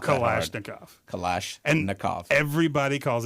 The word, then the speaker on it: Kalashnikov: Okay, It's actually pronounced exactly the way it's spelled. It's not that hard. Kalashnikov.